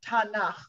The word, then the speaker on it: Tanakh: And the ah part, Tanakh, the vowel part, is just a typical way that base Hebrew words are pronounced.